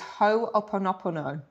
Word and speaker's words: Ho'oponopono: Yeah, well, how I say it is Ho'oponopono.